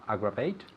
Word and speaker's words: aggravate: To aggravate. Good. Excellent. Repeat. To aggravate. Okay, where's the emphasis? To, Aggravate. yes, to aggravate. To aggravate. It's the first syllable.